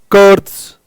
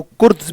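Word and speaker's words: Kurtz: पर एक सबसे पहले मिस्टा कर्ड्स जिसको कुर्द्स भी कह सकते हैं। कर्ज भी कह सकते हैं। कर्ड्स भी कह सकते हैं। टी और जेड इंग्लिश में टी और से का साउंड देता है। तो कर्ड्स मिस्टा यह मिस्टा मतलब मिस्टर है। है ना? मिस्टर मिस्टर कर्ड्स यह टी और ज़ेर जब साथ में आते हैं तो ये टी और से का साउंड देता है इंग्लिश के प्रोनंसिएशन के रूल के हिसाब से।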